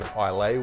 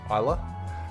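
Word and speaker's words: Islay: pull me pull me up for calling an ilay whiskey it is pronounced Isa uh and then the hazut component comes from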